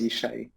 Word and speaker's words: Jishai: i'm inductor originally so the j is pronounced like english y um just like germans uh do um so yeah it's ishai nice to meet you